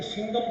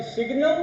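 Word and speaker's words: signum: और next function, okay, वो तो next is सिग्नम function, spelling ध्यान से पढ़ना, कुछ मत इसको सिंगम फंक्शन बोलते हैं, सिंगम नहीं, सिग्नम फंक्शन, ये आपको याद करना होगा।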